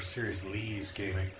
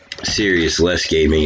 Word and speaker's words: Serious-Lee's Gaming: Is that Serious-less Gaming or Serious-Lee's Gaming? Yeah. Is Lee very serious or is there less? Because it's spelled Lee's. It is spelled Lee's. Serious-less Gaming is easier to say. It is. To be honest. That's why I haven't corrected you until this point.